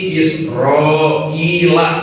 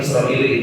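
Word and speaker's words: إسرائيل: itu ciri nama-nama asing Jadi dibacanya Bani israila enggak boleh dibaca Bani israili itu haram hukumnya Nah itu dalam ilmu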